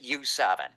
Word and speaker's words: YU7: And this is uh a car called the the YU7. Uh everybody pronounces it U7.